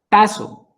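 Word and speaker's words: τάσσω: La palabra ordenados en griegos es la palabra taxo. Bueno, estoy pronunciando mal. Tazo. Tazo, porque si digo taxo es con X, ¿cierto? Taxo es con doble s. Taso.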